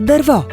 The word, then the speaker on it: дърво: Взимаме за пример думата дърво. В нея ударената сричка е втората. Отбелязваме я със знака за ударение. Тъй като тя се чува най-ясно, трудно можем да сбъркаме правописа на гласния звук О. Първата сричка обаче е неударена. Гласният звук ъ не се чува ясно и може да се сгреши.